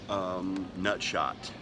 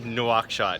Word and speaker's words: Nouakchott: Nutshot. Oh no, we're headed to Nutshot. Nouakchott, yes, in Mauritania.